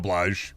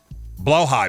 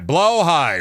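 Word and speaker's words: Blåhaj: All right, I say that wrong. How is it pronounced again? I don't have one, but I want one. Bad. Fair. Blowh high. Blowh high. Right. Blowh high.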